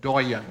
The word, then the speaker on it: doyen: a diplomatic corps the doyan this must come from French considering the last pronunciation French cuz this one's as good as spelled doen or d o y e n Oh, what?